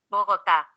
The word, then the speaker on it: Bogotá: la capital de colombia bogotá tenga en cuenta que este nombre debe acentuarse en la última sílaba tanto si se refiere